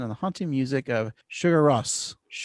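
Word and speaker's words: Sigur Rós: The chase offers the viewer to see the natural beauty of Iceland and the haunting music of Sugar Rose. How do you say their name? Sugar Russ. Sugar Russ.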